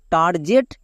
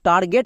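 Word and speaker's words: target: এখানে গেট কেন হলো এর উচ্চারণ তো হওয়ার কথা ছিল টার্জেট বাট এখানে এটা উল্টো কেন হচ্ছে টার্গেট কেন হচ্ছে এই নিয়ে 100% লোক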